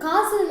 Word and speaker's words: castle: Castle na enna? இது castle கிடையாது. இதோட pronunciation என்ன?